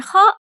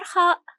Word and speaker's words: خاء: When Khāʼ comes in the middle of a word, it has two connecting segments.